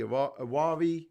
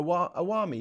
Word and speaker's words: Awami: two big political parties the awari movement which i'm probably saying incorrectly in the bmp um and then we've seen a lot of turmoil where we've seen oh sorry yeah a awami yeah i'm saying it right away so the iwami party